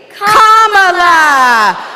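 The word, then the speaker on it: Kamala: do you pronounce it first you say com like a common sentence then you say la like la la la la la put it together and it's 1 2 3 comma all right so let's practice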